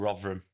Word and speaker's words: Rotherham: I'm from a place called Rotherham. It's got a TH, but it's pronounced V.